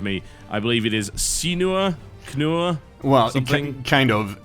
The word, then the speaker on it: cKnoor: I believe it is cKnoor? Well, something? Kind of. It's just random letters, but I've decided that it's pronounced cKnoor. cKnoor.